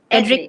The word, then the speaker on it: Edric: Okay, now the Nephilim in your story is, did I say it correctly? Edric-a? How do you Edric. pronounce it? Edric Edric. lang ba? Ah, Edric lang. There's no A.